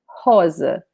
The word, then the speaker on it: rosa: But remember that the R in the beginning of a word in Portuguese is pronounced like an H in the beginning of a word, like house, house, rosa, raposa, okay?